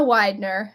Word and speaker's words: Weidner: my name is Widner and uh Widner is spelled we NE r as it's put on this screen here some people can get a little confused by that um but you can